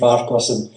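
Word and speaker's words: Farquharson: is whatever it was far my name is faros it's it's spelled no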